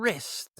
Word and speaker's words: wrist: And wrist, the thing that holds onto your hand, your wrist, W-R-I-S-T. Oh, but wait, there's a silent T, too.